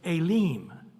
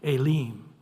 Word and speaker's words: Elim: It'll actually say elim. So the e has a a sound and the i has a e sound. Alim.